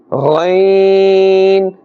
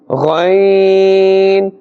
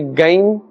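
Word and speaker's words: غين: However, the kha is pronounced with a scraping sound, and the ghain must not be pronounced with a scraping sound. Do not say gain as well, because gaf is not included in the Arabic letters.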